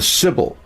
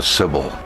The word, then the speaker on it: Sibyl: The Sibyl told as follows: the 9 suns are 9 ages.